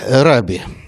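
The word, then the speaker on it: רבי: Что означает раби? Раби, слово на иврите означает учитель, арамейский аналог равуни, мой учитель, равин – это русское произношение, по-английски «рэбай».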